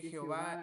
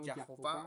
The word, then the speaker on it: Jehová: introduce una una Perdón una vocal que introduce una palabra se pronuncia como a pero la misma puede pronunciarse como e si está pues es